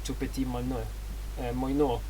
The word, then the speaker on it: Moineau: Moineau, I think, is the pronunciation of that.